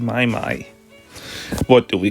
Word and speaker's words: Mai Mai: May May just May may with the power of May.